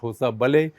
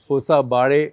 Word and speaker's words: Hosabale: It's not Hosabale, it should be something like Hosabare.